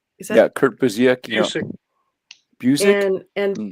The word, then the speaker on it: Busiek: How do you pronounce his name? Is that Yeah, Kurt Busiek.